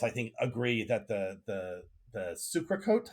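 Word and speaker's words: socarrat: And we both, I think, agree that the sucrecote, how do you pronounce that? The socarat. Socarat. You got to roll that R.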